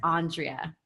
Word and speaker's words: Andrea: I want to say my middle name is Andrea but it's pronounced on tria kind of weird valley girl way okay so your chick